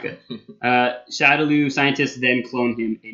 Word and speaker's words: Shadaloo: It's thought they're called the Shadaloo because of a mispronunciation from Japan, basically.